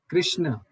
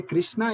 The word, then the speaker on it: Krishna: इज the correct pronunciation of the Lord Krishna is Krishna. When you say Krishna, it's a female name.